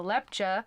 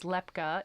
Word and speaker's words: Lepcha: Himalayas known as the Lepcha, who in our previous episode we incorrectly pronounced as Lepka. It is the ch sound and not the k sound. So the Lepcha people, Apologies.